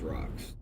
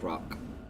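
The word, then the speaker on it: Rakk: up on the tops of these rocks.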